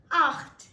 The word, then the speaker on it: acht: 8 in German is pronounced as acht. Acht. Now here, you would require to use a lot of throat work since Germans use a lot of their throat. So, it's acht. Acht.